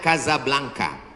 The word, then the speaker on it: Casablanca: nama negaranya Maroko ibukotanya tulisannya Casablanca cara bacanya Kadzab langka Kaza artinya rumah Blanca artinya putih Kasablanka rumah warna putih bahasa Arabnya ada rolbok